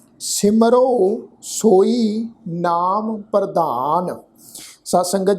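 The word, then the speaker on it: ਸਿਮਰਹੁ: बेनती साझी की सी, जदों किरियावाची शब्द हाहे अखर के पैर में औंकड़ की मात्रा लगी होवे ते औंकड़ की जिहड़ी मात्रा है वो अपने तो पहले अखर के उपर होड़े की मात्रा वांग उच्चारण होंदी है। हाहा अखर जिहड़ा है वो रारे अखर दे नाल मिल के मिलवी सुर विच उच्चारण होएगा। तो पाठ उच्चारण करांगे सिमरो, सिमरो सोई नाम प्रधान, तित नाम रसिक नानक।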